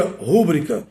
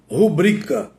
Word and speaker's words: rubrica: rubrica poucos pronunciam rubrica muita gente pronuncia rúbrica e talvez por isso muita gente repita essa forma inadequada Qual é a forma correta rubrica esta é exatamente a forma que deve ser pronunciada cacografia o que é